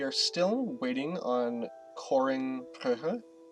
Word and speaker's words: Brugge: We are still waiting on coring Brugge. I always want to say Bruges because I'm from Canada, right? We learned the French way to pronounce this, but that's not actually fair to the Flemish people.